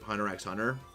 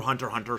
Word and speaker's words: Hunter x Hunter: when I finish um Hunter x Hunter or Hunter Hunter sorry apparently the x is silent just like my thoughts